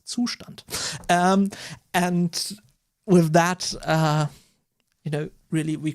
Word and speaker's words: Zustand: I'll probably use Zustand, which is a German word. So, hey, the correct pronunciation for this library is Zustand.